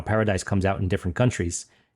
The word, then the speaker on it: paradis: They say paradis. Paradis. They don't pronounce the S.